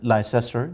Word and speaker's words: Leicester: london multan leicester l-i-c-e-s-t-o-r people might pronounce it lyster that is leicester france it may include